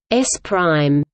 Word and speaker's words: S′: Frame S belongs to a first observer O, and frame S pronounced S prime belongs to a second observer O.